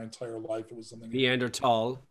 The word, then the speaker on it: Neanderthal: Neanderthal. Yeah. It's the tall.